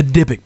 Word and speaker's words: Dibbuk: But we got it, Dibbuk. Yep, just the way it's spelled.